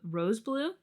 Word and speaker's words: R.o.S.E BLUE: We do know that Rose Blue.